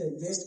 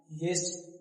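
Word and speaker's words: guest: गेस्ट का मतलब क्या होता है? मेहमान। गेस्ट मेहमान है ना तो यहां यू क्या है? साइलेंट है।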